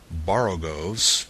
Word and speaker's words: borogoves: Again, the first O in borogoves is pronounced like the O in borrow. I have heard people try to give it the sound of the O in worry.